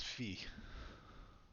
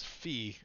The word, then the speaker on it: Fi: Uh, my name is Fee. Not to be mistaken with Guy, which is the French pronunciation of guy. This is Fee, F-I.